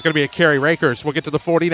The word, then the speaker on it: Rakers: if it is for rakers traditionally I see r a k RS I think Clinton County I think rockers but yeah it is rakers with a long a first and 10 Highland